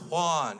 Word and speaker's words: Juan: right resume wrong name it's pronounced Juan she's like oh really